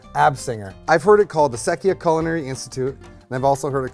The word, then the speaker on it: Absenger: But it is the correct pronunciation of your name is, but the last name, the family name? Absenger. Absenger.